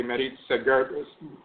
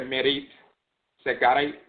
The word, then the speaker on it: Meretsegert: There's different ways to pronounce it. Sometimes people say Meretsegert, Meretsegert. We said Meretsegert because Sekrai or Sekari